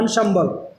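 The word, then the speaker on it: ensemble: अब आप इसको ऐसे प्रोनाउंस करेंगे, ये लिख रखा है, इसका प्रोनाउंसिएशन ये होगा एंसेम्बल।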